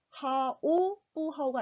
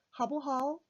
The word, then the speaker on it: 好不好: 네, 好不好가 아니라 하, ha. 네, 여기서는 그냥 하로 읽습니다. 발음 편의상 오가 생략이 돼요.